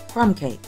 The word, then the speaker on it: krumkake: the day is which can also be pronounced crumb cake child differences between these